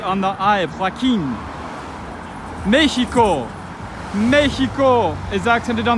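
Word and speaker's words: Joaquín: Joaquin, the name Joaquin.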